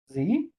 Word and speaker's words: 紫: Z, 紫色，इसे हम पढ़ते हैं ज़ स, जी नहीं पढ़ेंगे इसे ज़ स, ज़ स, ज़ स, 紫色 ज़ स।